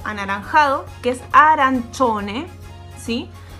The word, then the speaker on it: arancione: Acuérdense que en la primera clase nosotros vimos que la C con la I se lee chi. Pero cuando a esto yo le agrego una O al lado, es decir, C-I-O, esto en vez de ser chi, pasa a ser cho, ¿sí?